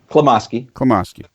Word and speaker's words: Klimoski: Klimoski.